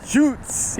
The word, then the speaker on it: shoots: You gotta say it like that, like the shoots, like real down low.